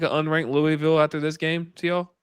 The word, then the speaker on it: Louisville: Louisville. Sorry. You got to say it like if you saying it right, you got to say it like you have marbles in your mouth. It's Louisville program.